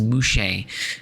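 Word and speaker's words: muxe: the case of mus uh spell MX s but I think it's pronounced mushe um which is fascinating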